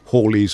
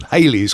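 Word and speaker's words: Halley: left behind from by Holly's or Hal, however you pronounce his name. He apparently pronounced it Holly apparently. Yeah. Um Comet, but we all know Hal's comet or even Haley's comet.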